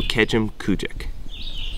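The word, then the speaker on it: Kejimkujik: Start with Kejim and then finish with Kujik. So Kejim Kujik. It's pretty. It's you know, it's not Kejim Kujik.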